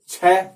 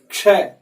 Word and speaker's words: क्ष: आपको खास बात बता दूं कि बहुत सारे लोग हैं, लगभग 90% लोग इसका उच्चारण गलत करते हैं। पढ़े लिखे समझदार लोग भी, वो या तो इसे क्या कहेंगे छ, ठीक है, या इसे कहेंगे श, या इसे कहेंगे श, या इसे कहेंगे श। इसका सही उच्चारण है क्षय। ये छ नहीं है।